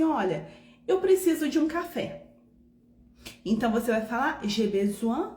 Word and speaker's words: café: O acento agudo, ele fecha o som da vogal. Então você vai pronunciar café.